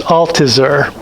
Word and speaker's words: Althusser: For a decade before this, and I think it's pronounced Althusser, wrote, he had been torn between the interior certainty of the death of God in modern history.